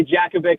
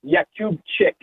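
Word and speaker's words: Jakubčík: I think the pronunciation that I can give you is Yakubchik. Yeah. So you were pretty close. I'll give you a B+. That's right. Or silent J.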